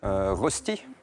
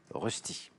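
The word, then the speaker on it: Rösti: Rosti.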